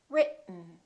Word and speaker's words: written: each other r it keep your tongue up don't release it let the air just come out through your nose for the n sound listen r it mmm written let's try another word